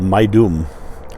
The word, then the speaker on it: Maidum: And we went to one pyramid called Maidum. And that sounds like a terrible, terrible name to be going to, but it's not spelled my doom. It's spelled my doom, right? With a DHOUM or something like that.